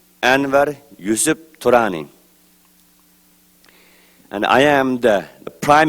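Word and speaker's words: Anwar Yusuf Turani: is anir yusf trani it's pronounced in ugar language Anar yusf Tani and I am the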